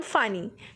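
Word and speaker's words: Fani: Okay, so this is द बेटा case study cyclone फानी, ठीक है। Basically it is pronounce as अ फोनी। Okay, फोनी because like a hood of the snake.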